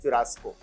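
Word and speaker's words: churrasco: तो right pronunciation is चुरास्को।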